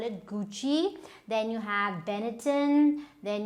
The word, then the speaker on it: Gucci: Okay, now the foreign brands are mostly French, like we have Gucci, so it's not Gucci or whatever you might call it, Gucci.